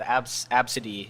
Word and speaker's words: Abcde: child, Absidy. Yeah, or which is spelled ABCDE.